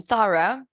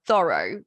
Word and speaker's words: thorough: Mind the pronunciation, thorough. When I was in London in 2011, when I was living there, and I made friends with some English, native English speakers, and I used to pronounce this word as thorough, but then they corrected me, and of course